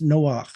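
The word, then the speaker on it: נֹחַ: two letters n he Noah that's how it's pronounced Noah with a with a gutteral sound is exactly reversed of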